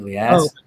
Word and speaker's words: Elias: So, like you said, you kind of actually pronounce it the Arabic way because I'm Middle Eastern, Oh, Ilyas. okay. Sometimes Americans say it more Elias. You can go either way. I really don't have a preference, but yeah, Okay.